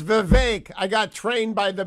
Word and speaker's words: Vivek: rhymes with cake it's Vivek I got trained by the bevankian people it's Vivek rhymes with cake but I can't believe